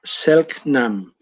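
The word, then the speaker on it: Selk'nam: Ahí la Lore me estaba tirando la orejita y me decía que se pronuncia Chelknam.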